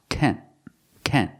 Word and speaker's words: tent: tants are so cute the word is not pronounced taint taint it's pronounced tent tent use the short a sound like red and bed it's a Clos sound it's a short sound red Ken Kent this